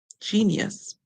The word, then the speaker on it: genius: that you should learn because it is not um a word that is pronounced as it is sung all because the G is making a song like J whenever G comes before e i or Y we are always